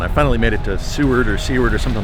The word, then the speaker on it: Seward: had lunch and I did get confirmation it's pronounced Seward and I'm at the D point I guess